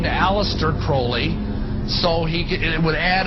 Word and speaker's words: Crowley: Crawley he likes Sabrina have his name pronounced Crowley to rhyme with holy and uh the statements